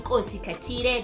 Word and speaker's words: Maqhawe Khathide: Hi, I'm Maqhawe Khathide. That's how you pronounce it. Don't get it wrong.